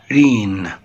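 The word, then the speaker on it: reign: الملك تحتمس التالت تبقى رين بمعنى عصر طبعا هوم بيت او مواطن لا كلاس فصل لا ايلاند جزيره لا هنا جي لا تنطق رين اوف عصر الملك السؤال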